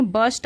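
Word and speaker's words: burst: द एंपरर बस्ट आउट तो यहां पे आर साइलेंट होता है इसे पढ़ेंगे बस्ट आउट लाफिंग यानी कि वह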